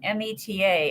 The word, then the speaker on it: Meta: but it's actually meta it rhymes with data metadata okay that's what